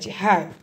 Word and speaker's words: high: तो ये मध्य आउ गोटे शिखबार अच्छी, हाय, ये कौन जी एच साइलेंट, जी एच साइलेंट, आम एमती पढ़वा जमी एच आई लिखाई, हाय, जंप अप हाय, क्लैप